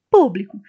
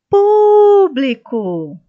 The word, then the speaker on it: público: Público, também uma palavra que está acentuada. Está fácil de entender, mas se você ainda não compreendeu, vamos chamar essa palavra público. Então, a sílaba pu é a sílaba tônica.